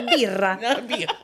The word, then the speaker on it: birra: Sto mettendo la birra." Did I say birra the right way? Is this supposed to be another word? How do you say beer in Italian? No, I think you said it right.